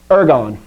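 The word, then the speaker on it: ἔργον: okay here we go ergon ergo one thing this is not the word ergo like therefore like you hear sometimes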